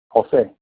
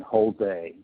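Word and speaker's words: José: And I'll just speak the correct pronunciation of Jose. Jose. Jose. All right. It's not perfect. I know that because I'm Hispanic and I speak Spanish fluently. But it's much better than Jose, as it normally would say.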